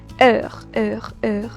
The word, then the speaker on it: heure: So only time, I'll pronounce this particular, yeah, heure, that the way you pronounce it.